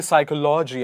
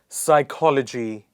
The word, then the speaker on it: psychology: at silent p psychology a lot of people say psychology I'm afraid that'd be psychology one more time psychology pneumonia not pineumonia